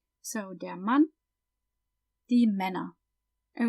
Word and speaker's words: Männer: So, der Mann, die Männer. And we pronounce the ER at the end kind of like an A, die Männer.